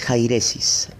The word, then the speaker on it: jairesis: la palabra griega en el griego herejía es jairesis Escríbalo J a y latina r e s